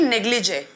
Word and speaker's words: negligee: And the pronunciation will be negligee, okay?